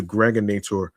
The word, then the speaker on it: Gregonator: This is your man and homie, aka the Gregonator, rhymes with now or later.